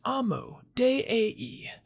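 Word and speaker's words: Amodei: Yeah, everyone knows the Emodas pronounced Amu Dee.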